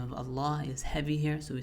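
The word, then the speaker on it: الله: So when we say the name Allah, right? We're not saying Allah, we're saying all a starting off light then becomes heavy.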